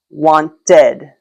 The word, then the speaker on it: wanted: wanted. Wanted because there's no way just to add the D sound to the end. It'd be wanted. It sounds really weird. So, you have to add another syllable.